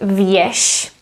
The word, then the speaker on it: věž: And the last letter is ž. Again, as it's at the end, we would be pronounced as sh. So the word věž. Věž is a tower.